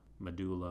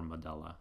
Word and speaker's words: medulla: Medulla or medulla, I've heard it pronounced both ways.